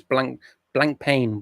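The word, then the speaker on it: Blancpain: How do you pronounce Blanc Pan?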